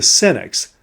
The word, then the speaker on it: Senex: So today we're going to explore the archetype which, not well managed, can drive us to be prematurely old, the Senex, that's spelled S-E-N-E-X, which is Latin for old man.